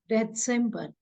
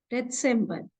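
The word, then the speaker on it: Dezember: Okay, now December, we'll pronounce it as December, December, because there is a Z instead of C. In December, it is December.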